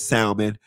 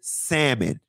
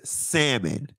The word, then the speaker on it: salmon: Phonetically, it is salmon. But some of the nuance of language is that some letters are silent. It is salmon. It is salmon.